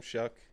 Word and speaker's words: Shuck: that how you say his name? Shuck? Yes. I said it right for once.